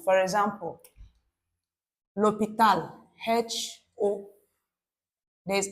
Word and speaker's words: l'hôpital: For example, l'hôpital, H-O. There is accent circumflex, I'll call it accent chapeau. P-I-T-L. This H is silent. The H is silent. It's a semi-vowel sound.